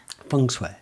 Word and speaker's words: feng shui: just say feng shui fung sweat yeah i what i did is i wrote it phonetically and put f-u-n-g s-w-a-y so that i would pronounce it correctly i know that's not